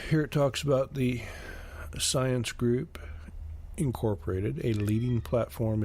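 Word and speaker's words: Psyence: the science group the science group is spelled p s y e n c e it's launching its functional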